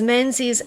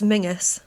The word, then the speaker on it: Menzies: Do you know that that's quite often pronounced as Mingus? Is it? Yeah. The the people that I know with that surname say it menses, but it could be Mingus as well.